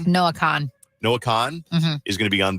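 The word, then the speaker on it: Noah Kahn: Your guy, Noel Khan, how do you say his last name? Noah Khan.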